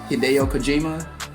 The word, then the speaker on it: Hideo Kojima: cuz I was like I've heard it pronounced like five different ways and I'm like hi what hideo Kojima he did you say it might be coima I don't know but that's what I'm